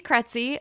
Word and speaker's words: Krejci: here today I'm kety let me start with my last name because I know it's a little bit tricky it's spelled k re e jci i and it rhymes with Betsy so that usually helps